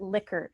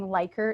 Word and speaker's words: Likert: to N scale so it's actually someone's name and they pronounce it liquor can you believe that so for years you've been saying lyker items or lyer scale